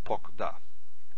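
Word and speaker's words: פָּקְדָה: Remember CVC, unstressed, because stress is here, means that this symbol is kametz hatuf, the short O, not the long A. So it's pokda.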